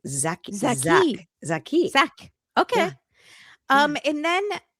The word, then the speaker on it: Jacques: In Portuguese, the French name Jacques is usually pronounced like Zach, Z-H-A-K, or closer to Z-H-A-K-I, Zach or Zaki. But it looks like Jacques, but it's like Zaki.